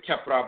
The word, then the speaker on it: Khepra: The cut sound is in Khepra, but it can also be pronounced cha, but it can also be the sha sound.